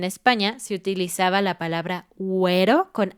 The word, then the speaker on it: güero: puntos sobre la U, que es una diéresis, güero.